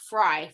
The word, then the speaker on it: Frey: So it is pronounced Frey, Fauna Frey. Oh, okay. Was I saying Frey? You were. Okay, sorry. Everybody does, because it's spelled like that, but it's actually pronounced Frey, Fauna Frey.